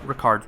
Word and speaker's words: Ricard: And we know that because we've just picked up Ricard's rapier. And I know, I just called him Rickard at first, but his name's Ricard. At least that's how he pronounced it.